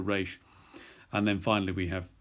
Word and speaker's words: reish: And then after tsade, we have kof, which we've dealt with, and then reish is the R sound, r, however you pronounce an R, that'll do for reish.